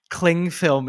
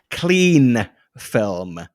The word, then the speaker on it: cling film: it in the fridge do you know what I cannot abide is when people pronounce it clean film what it is called cling film because it clings to things and people are like